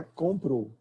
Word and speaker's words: comprou: Bom, a forma fonológica é comprou. Em certos dialetos mais formais, sobretudo em falas mais formais, as pessoas tendem a colocar o uzinho lá no final. Comprou. Tá? Mas no dia a dia, ninguém... O que você comprou? Viu? O U sumiu.